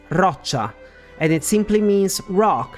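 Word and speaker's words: Roccia: in this specific case the r pronunciation is roacha and it simply means Rock like those from a cliff I would have been okay with roia because for whatever reason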